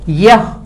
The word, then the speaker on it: यह: यह, this is a word called यह, बट we will say ये।